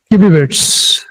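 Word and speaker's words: kibibits: Sometime pronunciation की mistake, तो इसको हम इस तरह से बोलेंगे, किबीबिट्स, जीबीबाइट्स।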